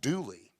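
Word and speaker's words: Dula: as a y duly is an old feature of mountain centuries-old appalachian speech dialect like the grand old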